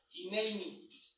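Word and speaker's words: הנני: Esta palabra en el hebreo se pronuncia hineini. Hineini. O se escribe también Hiné, es J-I-N y E con acento. Así se escribe, pero también se escribe y se pronuncia Hineini, con N.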